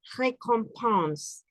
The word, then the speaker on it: récompense: en francés se dice récompense. Récompense. La R gutural, récompense con nasal, recompense. Todo lo demás compense es nasal, compense. Esa es pronunciación nasal.